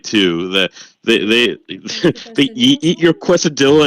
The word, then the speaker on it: quesadilla: Quesadilla.